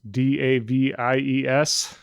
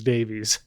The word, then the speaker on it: Davies: So apparently only people with that last name pronounce it that way, and everyone else says Davies.